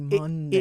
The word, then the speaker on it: Monday: Well, why is it M-O-N? Mon. It should be Monday. It literally, M-U-N. It rhymes with Sunday, which is S-U-N. I would love answers on that.